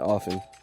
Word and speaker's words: often: You do not enunciate that T, sir. Let that go. What tea? What tea? And often.